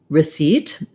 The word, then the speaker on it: receipt: re or r seat seat is the stress syllable so you're gonna see in the dictionary you're gonna see it with an if like the vowel in did receipt with the stress on the second syllable seat you might hear